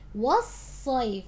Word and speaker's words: والصيف: والصيف. صاد has a shadda, make sure you're pronouncing it.